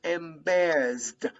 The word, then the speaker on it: embarrassed: best okay and best the final e d sound is pronounced like a final t and best and best